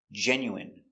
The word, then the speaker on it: genuine: medicine margarine intestine or intestines more than one genuine famine Remember, it's countable a famine famine and jasmine.